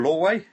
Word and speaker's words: Lorway: Uh and the guests today are Nora Lway. Have I pronounced that right, Nora?